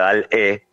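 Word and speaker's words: DALL-E: Tenés otra inteligencia artificial que se llama Dalí, como el pintor, pero en realidad con doble L, Y al final, Dalí, la pronunciación en inglés, si no sería Dal-E, que vos le describís en palabras cualquier imagen que querés.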